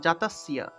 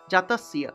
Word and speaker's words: জাতস্য: হবে তা দেখুন এখানে দন্তস্য আছে তারপরে জ ফলা আছে তাহলে জ ফলা এর পরিবর্তে ইয় উচ্চারণ আসবে এবং দন্তস্য এর উচ্চারণটা স এর মত হবে অর্থাৎ জাতস্য জাতস্য অর্থাৎ জাতস তারপরে ইয় ইয় উচ্চারণটা আসবে একসাথে উচ্চারণ করতে হবে কিন্তু তাহলে জাতস্য হি ধ্রুব